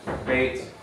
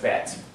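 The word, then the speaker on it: בית: And so here we have Beit. Technically, when you spell out the letter, it looks like this. Beit, which is why we spell it or pronounce it with the Y sound with the E.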